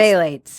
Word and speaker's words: phthalates: he was saying it's a ph but it's pronounced phthalates yeah yeah and i was like okay trying